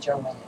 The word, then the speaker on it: Joan: I know this is spelled like Joan, but it was pronounced Joanne.